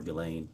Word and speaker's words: Ghislaine: Um as best as we know, it's been publicly reported that in a 2024 uh Ghislaine Maxwell, or Ghislaine, I think it's how it's pronounced, arranged and wired $1